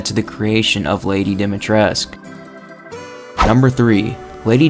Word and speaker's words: Dimitrescu: be pronounced as lady dimitrescu but in actuality the u is silent and it's actually pronounced as lady dimitresk this is evidence during